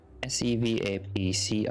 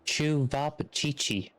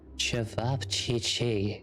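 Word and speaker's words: Ćevapčići: Sevapcici. Chevi? So, Like, I'm thinking it's like ceviche and you don't pronounce the P. Oh, it's Chuvapchichi.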